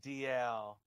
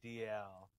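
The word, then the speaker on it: Dalziel: It's pronounced DL, Ryan DL.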